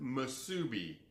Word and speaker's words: Musubi: That's exactly how you pronounce it, Musubi.